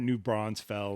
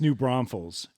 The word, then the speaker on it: New Braunfels: No, but I was calling it New Bronzefell or something like that. It's New Braunfels.